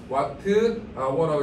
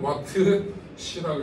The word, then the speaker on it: 와트시: 아워니까 이렇게 쓰고 뭐라고 읽어야 돼? 와트 아워라고 읽어야 돼. 뭐라 읽는다고? 와트 아워라고 읽어야 돼요. 그런데 우리나라 사람들은 와트 시라고 있습니다.